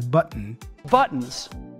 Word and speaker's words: buttons: First of all, it's important to point out how he pronounces the word buttons. You see, he says button. Buttons. Not button, all right? So there is a bit of a glottal sound there.